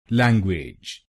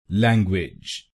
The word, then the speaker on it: language: पहले शब्दांश को यानी LANG हम बोलेंगे लैंग, लैंग, और दूसरे शब्दांश को यानी UAGE हम बोलेंगे विज, विज। गलत प्रोनाउंसिएशन में हम इस शब्दांश को बोलते हैं वेज, तो इस शब्दांश को वेज नहीं बोलिए, इसको बोलिए विज, विज।